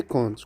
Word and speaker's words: compte: Troisième paire, c'est conte et conte. Conte avec O-N-T-E, c'est un récit imaginaire. Avec P, qu'on ne prononce pas, et l'ensemble de calcul.